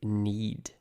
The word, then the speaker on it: knead: The next is to need. Need. That's spelled K N E A D with a silent K.